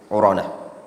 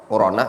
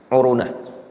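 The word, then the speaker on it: عرنة: Urana wa huwa wadi Arafah. Urana adalah lembah Arafah. Wal fuqaha yaqulun uruna. Ya, namun yang lebih tepat bacanya apa? Urana.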